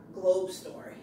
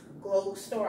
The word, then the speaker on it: Glogestore: check out globe store that's not globe store it's glow store i'll spell it g